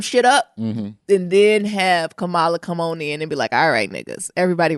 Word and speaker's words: Kamala: Because I think that, I'm sorry, did I say her name wrong? I call it Camilla. Kamala.